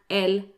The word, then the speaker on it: elles: Now, they end in an S, as you can see, but the S is silent, so they're pronounced the same as il and elles in the singular.